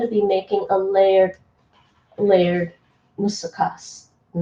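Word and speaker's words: μουσακάς: Musakkas. Yes, the stress is on the last syllable in Greek.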